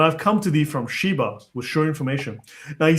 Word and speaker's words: Sheba: Now he says here, for instance, down below, that in Arabic this is Sabah, right? Because the sh in the Jewish pronunciation becomes s in the Arabic pronunciation.